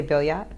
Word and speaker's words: Billiot: You say Billiot? Billiot, yeah. Okay. Bilio, whatever you want. Okay. There's a lot of people pronounce it Bio, but it's Billiot. Yeah.